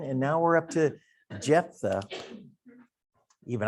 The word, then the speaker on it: Jephthah: We're going to be looking at, this is pronounced Jephthah. So if you're going to enunciate it, Jephthah, that's how it's enunciated.